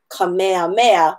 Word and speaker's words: Kamehameha: his name from being maihama ha eh-eh-eh-eh-eh to kamehameha which would be mea MEA so want to make sure that we are pronouncing all of our letters and that we're